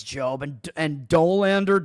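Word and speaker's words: Dollander: I don't I think it's Job and and Dolander. Doander, however you pronounce it. Col I rhyme it with Colander.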